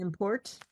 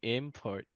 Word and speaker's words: import: So, if we read it as a noun, it's import. And then the example is coffee is an import from Colombia. That's great. Yeah. And then if it's a verb, import, right?